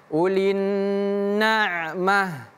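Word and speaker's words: أُولِي النَّعْمَةِ: Kalau kita hentikan bacaannya ulin nah seperti ini ya. Jadi dari ta menjadi ha.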